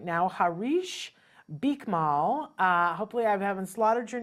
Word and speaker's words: Harish Bikmal: Harish Bikmal. Bikmal.